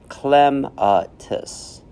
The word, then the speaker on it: clematis: Night but when did I fall for a clematis pronounced clematis perhaps it was all those strolls at Longwood